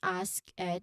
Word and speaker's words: asked: It's the S sound followed by an aspirated K sound and then an invoiced T asked. T at the end. So it's not ask Ed with an extra syllable.